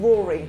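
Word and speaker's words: Raury: I just remembered somebody else who you should look out for, sorry, who's a guy called Rory, and his name is spelled R-A-U-R-Y, and he's American, and I interviewed him recently, and he's like Justin Timberlake and Pharrell Williams.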